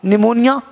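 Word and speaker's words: pneumonia: गया साइलेंट हो गया पीके हो गया साइलेंट हो गया आप है न न्यूमोनिया निमोनिया क्या है जब बीमारी का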